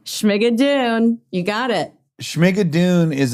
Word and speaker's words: Schmigadoon!: Oh, and then I just wanted to bring up before we said goodbye, I'm afraid to pronounce the brand name. Schmigadoon? Schmigadoon.